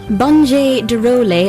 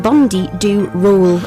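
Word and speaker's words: Bonde do Rolê: Bonje du Role, but it's spelt Bonde, like Bondi do roll.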